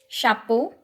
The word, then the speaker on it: chapeau: Chapeau EAU ਦੀ sound ਕੀਤੀ ਹੈ O, ਤਾਂ it will be chapeau।